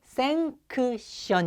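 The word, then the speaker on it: sanction: 자 쌩 션 제제 허가 발음이 생크 션 입니다 생 션 쌩 c1 인데 생선 비슷하여 쌩 션 그래서 우리나라 바다에서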